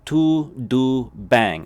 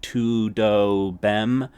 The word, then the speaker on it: tudo bem: bang as it literally as if you were saying like bang like bang like a all right b-a-n-g there's that n-g sound to bang okay so to do bang all right pronounce it